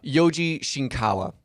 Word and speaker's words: Yoji Shinkawa: and doomsday yeah oh yeah oh yeah uh Yoji shinkawa is how you pronounce that man's name oh I gotcha we